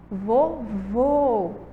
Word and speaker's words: vovô: vô vô vô escuta o som do ó ele deu uma fechadinho ó vovó vovô tem um som aí mais fechado certo então encontro enquanto